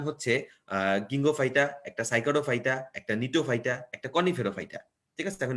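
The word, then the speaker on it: Gnetophyta: এই যে জিএনই না, জি উচ্চারণ হয় না, এটা অ্যাকচুয়ালি নিটোফাইটা।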